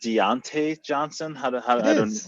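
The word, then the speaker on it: Diontae Johnson: Is it Deontay Johnson? Yes, well pronounced.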